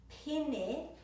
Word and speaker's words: pene: Be careful not to say pene or pene, it's pene. So the two E's rhyme with each other.